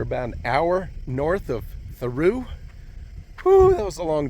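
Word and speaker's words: Thoreau: Mexico yeah I know it looks like it says uh thorough but I believe they pronounce it theu so I'm going to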